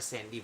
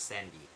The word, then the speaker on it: Candy: list is uh Dr Sandy Bollinger although it is spelled candy uh c-a-n-d-y it's actually spelled uh it's actually pronounced as Sandy um is actually one